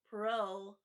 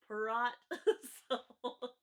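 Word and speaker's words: Poirot: you have hercule pro which i know before when i i said his name i totally butchered it which i always do um so i used to say merlot i used to save my lot and when i i first said his name i said perrot just a fun little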